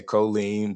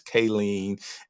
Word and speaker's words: Kayleen: I know that I have a young lady by the name of I want to say Colleen, but it's Kayleen, and I'm mispronouncing it.